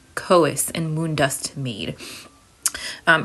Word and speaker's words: Chaos: this is koe so I think I'm pronouncing this right it's not chaos coas and moon dust made